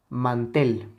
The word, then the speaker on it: mantel: video tenemos la palabra mantel Okay la palabra mantel si la dividimos nosotros en sus sílabas sería la sílaba Man y la tel mantel evidentemente la sílaba tónica